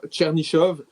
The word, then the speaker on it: Chernyshov: Sinon, on a un premier but pour un joueur des Sharks, c'est Igor Chernyshov. Ouais. C'est bien prononcé son nom de famille.